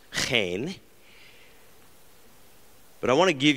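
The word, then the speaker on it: חן: This is, of course, the Hebrew word, which is hard to pronounce. It's chen.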